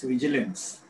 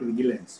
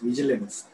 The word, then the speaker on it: vigilance: It's vigilance, not ga, not vigilance, vigilance.